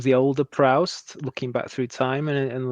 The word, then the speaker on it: Proust: Like as we talked about last week, we get the impression is it like the older Proust looking back through time and there's all these